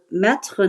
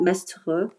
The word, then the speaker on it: maître: So definitely, then this person's name is pronounced maître, not mestre, first.